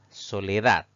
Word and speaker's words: soledad: La siguiente palabra es soledad. Si dividimos en sílabas, pues tiene 3 sílabas. Sin embargo, la mayor fuerza de voz recae en la última sílaba. Eso la convierte en una palabra aguda, pero sin tilde, porque no termina en N, no termina en S y no termina en vocal.